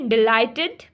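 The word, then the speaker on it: delighted: डिसाइडेड liked tried enjoyed अब देखि डिलाइटेड आईडी डिसाइडेड डिसाइडेड डिसाइडेड लाइट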